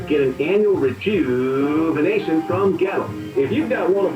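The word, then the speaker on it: Goettl: Gettle. It rhymes with kettle, except it starts with a G and it's spelled really weird. Gettle. G-O-E-T-T-L. Will keep you cool, but it's hard to spell.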